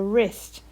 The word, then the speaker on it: wrist: start with a sound but the tricky bit about these words is that they actually start with a w r so it's a silent w you can hear the uh but not the w so what i want